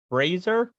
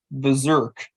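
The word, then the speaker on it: BRZRKR: his own personal comic brazer it's pronounced berserk okay berserk is a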